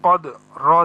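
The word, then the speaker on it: قدر: যদি এখানে ওয়াকফ করি তাহলে এই রর উপরেও একটা যজম চলে আসবে। যেহেতু দুইটা হরফে তাহলে যজম আসে, তাহলে দুইটা হরফ আমাদের এরকম উচ্চারণ করতে হবে, কদ্র, অর্থাৎ দুইটা হরফে যজম,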